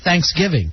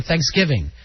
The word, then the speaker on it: Thanksgiving: you know that no i say thanksgiving i put the i'd go thanksgiving i put the emphasis on give you put it on thanks and i was uh